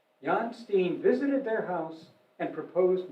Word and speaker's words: Jan Steen: the painter jan steen i pronounce it american pronunciation i understand john steen visited their house and